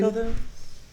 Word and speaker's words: Coelho: Cohen. Coelho.